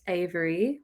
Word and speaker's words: Averie: but my artist name is Avery, which is spelled Averie.